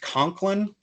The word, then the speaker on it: Coughlin: what's his name uh alex conklin but it's spelled coughlin he's got a fabulous